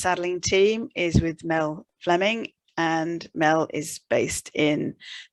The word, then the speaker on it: Fleming: Actually, Mel, do you pronounce it Fleming or Fleming? Because it's spelt Fleming.